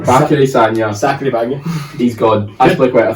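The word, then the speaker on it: Bacary Sagna: but Bakary Sanya. Sanya. Thanks for coming along. I thought I said it wrong there. No, you're right. Bakary Sanya.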